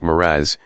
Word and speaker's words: mirage: "Mirage is pronounced miraz," said Valency shortly, picking up her tea and her beans.